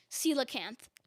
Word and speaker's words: coelacanth: right coelacanth yeah so is it pronounced c locant or c lacant uh celocant i believe it's can't yeah i'm i'm asking if it's a or in the middle so c low cancer c luck camp uh la yeah okay coelacanth coelacanth c-o-e-l-a-c-a-n-t-h there